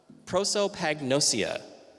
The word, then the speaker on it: prosopagnosia: does exist which is called prosopagnosia I'm only going to say that once because I pronounced it correctly the thing about Pro